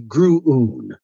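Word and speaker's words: Gruoon: It's spelled G-R-U-U-U. That's not how it's spelled. G-R-U-O-O-N. So in my head earlier, I said, that's going to be gruun.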